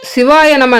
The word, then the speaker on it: சிவய நம: இறைவனிடம் சேர்க்கும் ஒப்பற்ற பிறவி சிவாய நம என்ப என்பதை சிவய நம என்றே உச்சரிக்க வேண்டும் சி என்றால் சிவம் வ